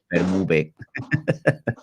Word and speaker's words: FerMuBe: Yeah, only one sound in Spanish vowels. E, U, E, FerMuBe.